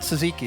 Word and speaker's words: tzatziki: Well, it's not tzatziki.